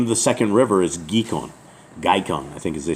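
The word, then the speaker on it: Gihon: And the name of the second river is Gikon, I think as they say it. And how did they say it right here? It's Gikon.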